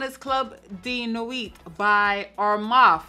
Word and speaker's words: Armaf: This one is Club de Nuit by Armaf. I always want to say Arfam. Dyslexia be kicking in sometimes. But it's definitely Armaf.